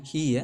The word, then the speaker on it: he: Ini cara bacanya he ya. Ini gampang sekali. Tinggal kalian ingat belakangnya itu i, langsung bacanya he gitu ya.